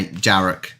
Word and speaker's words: Jarek: Oh, yeah, Jarek with a J, but more like a Y.